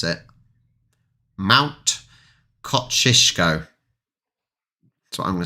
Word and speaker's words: Kosciuszko: Kosciuszko? No, that's not how you pronounce it. Kosciuszko. It's got to be because an SZ is sh.